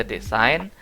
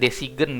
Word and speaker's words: design: Was it about the design? Apakah itu tentang desain? Gitu. Ini bacanya bukan desigan ya.